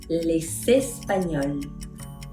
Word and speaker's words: les Espagnols: Les Espagnols. Les Espagnols. Excellent. Liaison.